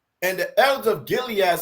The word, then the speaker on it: Gilead: onto the Elders of gillad am I saying it right Gilead gillad which one Gilead I'm Gilead yeah Gilead and JEA said onto